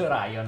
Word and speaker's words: Orion: È scritto sbagliato Orion. No, è scritto Orion, quindi si legge Orion all'inglese. Davvero, l'ho sempre detto Orion. All'italiana, ma io la leggo all'inglese.